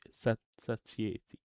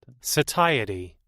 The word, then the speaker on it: satiety: to implement my constitution system with anger sass sati how do you say sati sati si it's similar in French. I just want to hear it. Satiety.